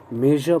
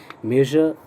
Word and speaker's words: measure: मेजर पढ़ते इसे ध्यान रखें, मेजर का प्रोनाउंसिएशन बहुत ही स्पेशल है। आप समझे यूँ कि तालव्य श और ज जो बोलते हैं श एंड ज, इस दोनों के साउंड को मिलाकर बोलना है, तो सुनाई देगा कुछ।